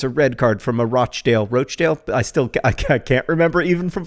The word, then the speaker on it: Rochdale: Rosianna, how do you say Rochdale? Rochdale, apparently, but Britisher.